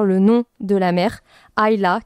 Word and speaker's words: Isla: Et l'île, c'est un truc qui revient plusieurs fois, notamment à travers le nom de la mer, Ayla, qui s'écrit Isla.